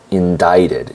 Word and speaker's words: indicted: Prosecutors indicted, and this is important, indicted has a C in it, but it is not pronounced. So, indicted is the correct correct pronunciation.